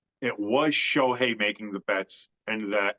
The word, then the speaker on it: Shohei: I lean more towards it's Shohani, or yeah. God damn it, I said his name wrong again. Shohei.